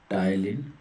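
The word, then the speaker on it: ptyalin: P silent होता है, टाइलिन होता है।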